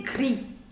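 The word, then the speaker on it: gris: moving on to the color gray so you say gree gree in order to make it feminine you are going to put allah gree grease grease now i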